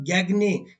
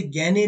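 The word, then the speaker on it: Gagné: इसके साथ-साथ गैगने या जिसे गने भी कई बार प्रोनाउंस किया जाता है।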